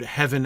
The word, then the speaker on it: heaven: Also, heaven, yeah, like the V apostrophe N also doesn't work. HEA V apostrophe N also doesn't work. It's, like, horrible. Like, it's not a thing. Nobody says that. It's not how the word is pronounced.